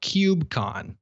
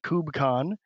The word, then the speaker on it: KubeCon: So Kubernetes is the somewhat obvious pronunciation of the full spelling, but when you abbreviate it to just KUBE, then the English word cube immediately comes to mind, and it's much more approachable to call it cube than kube.